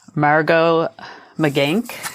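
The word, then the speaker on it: Margaux Meganck: remember how to say, Margot McGank is how you say her name.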